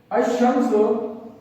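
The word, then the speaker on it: الشمس: जिस तरह इसी को ले लीजिए कि अशम्स, अशम्स, अशम्स में आप देखें तो अशम्स में पढ़ रहा हूं, अल को मैं साइलेंट कर रहा हूं, लिखेंगे पढ़ेंगे नहीं।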